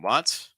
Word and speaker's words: want: couple um we have want again an a sound but this time we're going to be comparing it with won't so again want won't want won't so once again having that ah sound another recommendation as well